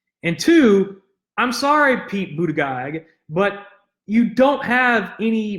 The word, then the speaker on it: Buttigieg: Yes, I know his name is pronounced Buttigieg.